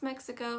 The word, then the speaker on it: Mexico: we have new mexico i don't hear a lot of people mispronounce mexico except for maybe making that e sound a little bit too a y like so you're gonna pronounce it as me say think of that x as a e as a c k s also that i is going to be just like the california i uh it's gonna be